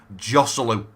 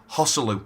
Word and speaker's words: Joselu: Moving on to this man here, now I was calling him Joselu, and someone said in the comment section, Brad, I think you might be pronouncing his name wrong, and I do apologise. It's actually Hosselu.